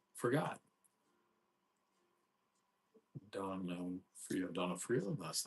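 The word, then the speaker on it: D'Onofrio: How do you pronounce his name? Forgot. Donofrio.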